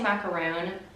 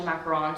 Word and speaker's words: macaron: I always want to say macaroon, but I know it's actually macaron, so I'm trying to be better about saying it correctly.